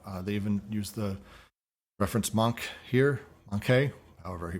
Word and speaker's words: manque: They even use the reference manque here, manque, however he pronounces it. Monk.